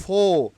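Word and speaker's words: before: আগে একটু খেয়াল করবেন আমি এখানে প্রোনাউন্সিয়েশনটা কিভাবে হচ্ছে নট বিফোর বিফোর ফো which book বিফোর which whose খা নট কার খা আর will be silent R will be skip হেয়ার okay তাহলে বিফোর হুজ খা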